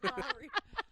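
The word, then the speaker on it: Maury: Don't make It's fun of mental Maori, you illness. asshole. Maori. It's spelled Sierra.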